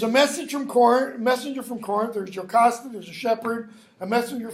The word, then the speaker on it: Jocasta: Okay, brother of, it's pronounced Jocasta, not Jocasta.